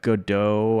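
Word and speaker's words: Godot: I picked up Godo. I don't know if you're familiar with that. Go dot is how it looks like it's spelled, but Godo.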